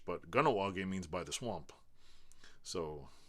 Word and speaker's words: Kahnawake: Most people will say Kahnawake. Even I say it real quick, Kahnawake, or I'll pronounce the H. But Kahnawake means by the swamp.